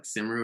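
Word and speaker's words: Cymru: of the league um i don't know how to pronounce it in welsh but it's it's spelt c-y-m-r-u so it's like simru or it's whatever it is uh north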